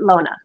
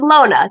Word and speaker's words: Lone: My real name is Lone, and you pronounce it Lona. I'm looking forward to today's show. So this is Lona.